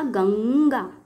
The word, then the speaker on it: गंगा: अनुस्वार या बिंदु का प्रयोग करेंगे, किंतु उच्चारण में पंचमाक्षर की ध्वनि से ही उच्चारित होगा। जैसे उदाहरण समझने के लिए कुछ उदाहरण आपके सामने प्रस्तुत है। उदाहरण है गंगा। उच्चारण करो इसका, गंगा।